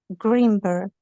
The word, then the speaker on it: Greenberg: And maybe it's the And so the burg isn't quite clear enough at the end. So the the color green sounds quite clear when you're saying it, but the the berg bit is just a little bit just a bit lacking. I can't quite catch it.